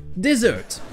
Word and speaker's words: dessert: En effet, un dessert, ça se prononce comme le verbe déserter. Dessert. Première syllabe non accentuée avec le son et, dessert.